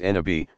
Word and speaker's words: nabi: final purpose every prophet nabi pronounced n abhi passes along the Divine